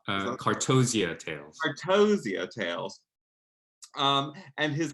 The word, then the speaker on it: Cartozia: Is that Cartzoia? Cartozia Tales.